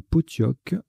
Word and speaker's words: pottok: sait transforme la sera en classera ça se prononce bien pottok po2 théo ces cas en 3 c'est pour